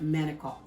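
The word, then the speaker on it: manicotti: but so we we're going to work with manokult that's how you say it okay all right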